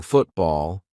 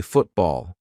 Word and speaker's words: football: When a syllable ends in t and it is followed by a consonant sound, we're going to use the glottle stop. For example, football. I'm not saying football. Let's play football. Now I'm saying football.